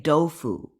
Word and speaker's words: doufu: appreciate this understanding that, even when people say tofu, in Chinese culture, a Chinese person will say doufu, right? Even though it's spelled with a T.